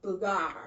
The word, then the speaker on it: Booger: to hang glide and my instructor's name was b-o-o-g-e-r okay but that's not how you didn't pronounce it as booger it was called bugar that's cute but people over here be like